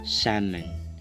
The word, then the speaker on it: salmon: Ang pag-pronounce pala niyan ay salmon.